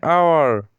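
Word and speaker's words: hour: एन आवर या आवर इसका start में जो लेटर है वह एच है। लेकिन एच साइलेंट है। और इसका शुरू में जो साउंड निकलता है वह वोवेल साउंड है।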